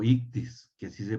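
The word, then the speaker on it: ἰχθύς: como se dicen en el griego ictus o ictus que así se pronuncias y esos este es Jesús es ictus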